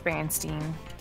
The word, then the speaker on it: Berenstain: and then Berenstein bears I refuse to say Berenstain it's Bernstein two four six eight hundred at a very